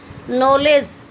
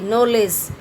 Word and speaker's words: knowledge: इसी तरह से नॉलेज, KNOWLEDGE, नॉलेज, लेकिन लिखा क्या जाता है, के से इसकी शुरुआत होती है, लेकिन इसके अंदर के वर्ड जो है या के ध्वनि जो है साइलेंस है, मूक है।